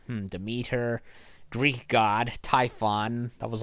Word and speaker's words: Demeter: to pass up oh and it's pronounced to meet her by the way mm to meet her Greek god Typhon that